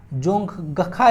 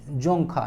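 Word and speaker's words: Dzongkha: देखने को मिलेगा आपको जोंगखा ना, क्या चीज जोंगखा देखने को मिलेगा, डी साइलेंट रहता है ना, याद सकते हैं भूटान।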